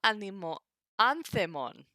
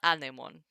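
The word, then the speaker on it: ἄνθεμον: To anthemon, not anemon. That'd be wind.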